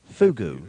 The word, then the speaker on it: Fugu: The fish known as, and help me out here, it's Fugu. Fugu. Yes. It's kind of like the clothing brand from the 90s, Fubu 05.